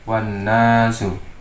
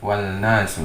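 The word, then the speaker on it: والناس: Wawu dimasukkan ke dalam nun sehingga membacanya menjadi wan nasu, tidak wal nasu tapi menjadi wan nasu.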